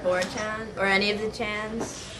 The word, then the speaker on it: 4chan: Personally, I do not believe in 4chan because it is not 4chan, it is Chan, and I do not believe in the Desu videos because they are pronounced Des.